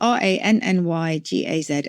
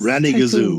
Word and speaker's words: rannygazoo: So it's spelled RANNYGAZOO. I think it's probably pretty fanciful and onomatopoeic, but I just love the sound of it. It's Ranny Gazoo.